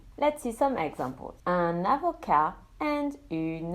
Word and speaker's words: avocat: Un avocat and une avocate, a lawyer. Un étudiant and une étudiante, a student. As you can hear, when the masculine ends in a consonant, that consonant is silent.